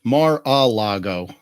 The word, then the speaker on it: Mar-a-Lago: It's Mar-a-Lago.